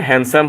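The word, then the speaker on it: handsome: এই হ্যান্ড ঠিক আছে এখানে হবে হ্যান্ডসাম হবে এখানে হ্যান্ডসাম হবে ডি সাইলেন্ট থাকবে এডজেক্টিভ না এডজেক্টিভ এটা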